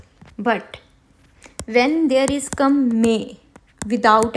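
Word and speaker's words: mais: But when there is come may without accent, and also here I'm not pronouncing asset and here I'm pronouncing maze.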